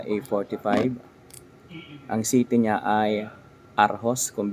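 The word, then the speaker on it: Aarhus: lang kayo ngang arh sa city ng aros ang spelling ng City niya ay a r h us RH pero o daw ang bigkas n dito sa kanila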